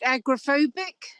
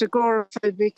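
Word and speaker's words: agoraphobic: um they're a bit agrophobic. I think it's pronounced agorophobic in in the US um because they're not used to open spaces.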